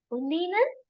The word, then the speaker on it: und Ihnen: So just to sharpen your brain, I've added this word and Ihnen, but it is und Ihnen.